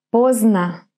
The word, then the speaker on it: поздно: Поздно. Поздно. Поздно. Here we have this D, which actually disappears. And you just hear поздно.